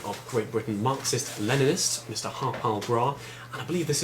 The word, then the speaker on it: Harpal: It's just an emphasis on the wrong syllable, that's all. Harpal? Harpal. Emphasis on the second syllable.